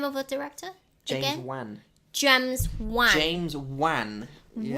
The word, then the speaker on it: Wan: Wan.